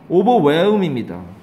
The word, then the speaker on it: overwhelm: 발음은 이걸 overwhelm이라고 발음하지 말라고. overwhelm이야. film이 아니야. film이 아니라 M, L 다음에 M이 나오면 얘가 우리나라 사람들은 feel 모음이 의가 있다고 생각해서 film 그런데 이거는 거의 발음이 film쯤 돼요. film 나중에 듣기 들어보세요. film도 아니고 film도 아닌데 film 이러면서 거의 그 film쯤에 가깝습니다.